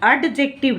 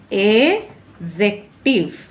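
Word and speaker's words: adjective: Rule 9 कहता है if there is ए जे, यदि एक जे हो आफ्टर डी के बाद अगर जे हो, तो भी हम डी को क्या कर देते हैं, साइलेंट कर देते हैं। जैसे देखो डी के बाद क्या है, जे है, तो डी साइलेंट हो जाएगा, तो हम एडजेक्टिव ना पढ़ के हम पढ़ते हैं एजेक्टिव।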